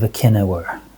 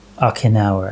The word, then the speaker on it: Okinawa: he died in the battle of Ainawir. Okinawa I think is how you pronounce it actually.